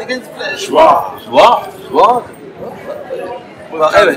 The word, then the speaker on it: joie: Joie.